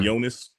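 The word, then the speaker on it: Yoenis: Julian Williams is how you say his name yonas yonas yonas Jonas tell yeah versus Julian Williams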